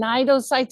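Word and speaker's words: cnidocytes: It starts with a C but the C is silent in this name. These are called nidosittes. A nido site. And nidocytes are very important to help our jelly capture its food.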